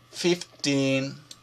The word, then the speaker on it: fifteen: sementi ed in mente si pronuncia si pronuncia in il finale ma è scritto ti e e n questa doppia e queste due è vicino si pronunciano come una i teen ok andiamo avanti da